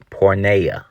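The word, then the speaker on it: πορνεία: you say fornication in Greek you say is pronounced pornea okay this is actually where you get the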